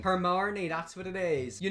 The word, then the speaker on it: Hermione: You know in Harry Potter, whenever Harry and Hermione, Hermione can't pronounce her name. Hermione, that's what it is.